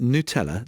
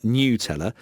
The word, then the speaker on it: Nutella: It should be pronounced Nutella, not Nutella. Nutella is correct Italian way of saying Nutella.